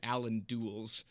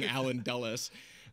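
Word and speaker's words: Allen Dulles: CIA because in my first video I was pronouncing it Allan DS instead of saying alen dullis just a second I think you have a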